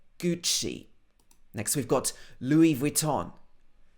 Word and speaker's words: Gucci: Gucci. Obviously, this is an Italian brand, but normally in the UK, we would say Gucci.